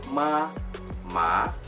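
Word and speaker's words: 马: Mama, sama satu lagi adalah kebas. Nah, kalau misalnya intonasi yang ketiga itu simbolnya seperti ini. Nah, itu bacanya agak apa ya, agak kayak gelombang gitu ya.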